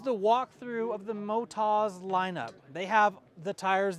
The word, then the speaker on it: Motoz: and how do you say the name it's Motas moto tires from Australia Motas is the name I'm car brel thank you